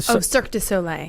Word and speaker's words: Cirque du Soleil: Let me pronounce. Amaluna. Yeah, but the Cirque du Soleil.